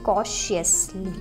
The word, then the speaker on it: cautiously: TIOU is sh. Okay, TIOU is sh. Sly, cautiously. Okay, so you can see that TI is silent, so it is cautiously.